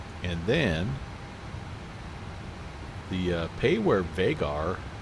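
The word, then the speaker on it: Vágar: the uh payware vagar vagger. How do how do you say that? Vagger. Vagger. There's a vugger. Vugger. It's a way to pronounce that a with a with a little mark over it there.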